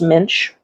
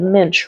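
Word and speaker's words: Muench: so it's m-u-e-n-c-h yeah it's spelled like mooch but it's pronounced Minch okay yes when I Googled the pronunciation it said Minch rhymes with pinch so nice and for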